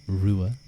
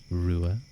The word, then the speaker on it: Ruadh: But it is pronounced, and thank you Haru for redeeming it. It is pronounced Rua Ua. Rua Ua.